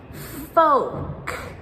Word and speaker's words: folk: So the rule here is that if you have the 4-letter word with the K at the end, then the silent L comes before the K.